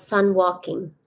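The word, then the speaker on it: San Joaquin: hang out with yes San joen Valley I lived in Bakersfield um pronounce sun walking okay thanks oh God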